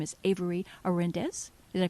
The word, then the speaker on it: Avery Orendez: Her name is Avery Orendez. Did I pronounce that right?